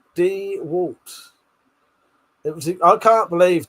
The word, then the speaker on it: DeWalt: With that said, I say Mackita and the Walts like a normal person. Dewalt. Dwalt.